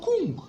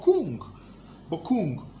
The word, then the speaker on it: Korwng: Korwng is Korwng. It's not Kong. It's Korwng.